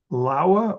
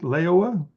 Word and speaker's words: Laowa: makes excellent equipment is a company called Laowa, or some people pronounce it Laowa.